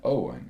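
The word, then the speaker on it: Eoin: Most of the time we were there, we spoke with the barman, Owen. Once again, it's spelled differently than what we may spell it in the U.S., O-W-E-N, but his spelling was E-I-O-N.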